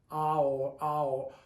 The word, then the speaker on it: ahorrando: Remember, the H is silent. The A and the O are 2 vowels and they're pronounced separately. You can't pronounce them as one. It's ahorrando.